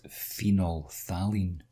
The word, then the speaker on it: phenolphthalein: we use is this funny name here you pronounce it phenolphthalein before we do the titration we add phenol